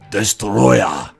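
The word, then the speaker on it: Destoroyah: Godzilla franchise this is Destroyer I just love pronouncing his name like that because that is how they say it in the film that's how you pronounce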